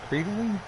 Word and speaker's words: Kreitling: Hope I'm pronouncing that right. Kreitling? K-R-E-I-T-L-I-N-G. That's how I've always pronounced it.